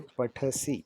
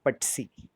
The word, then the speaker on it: पठसि: So now remember that when you say pathasi, so make sure that the th sound is pronounced, it is emphasized. So we will not be able to say patsi. You will have to say pathasi.